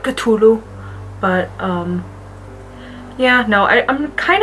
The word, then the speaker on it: Cthulhu: Apparently that's how you're supposed to pronounce it, according to H.P. Lovecraft. Cthulhu. Like, really spit it out, Cthulhu.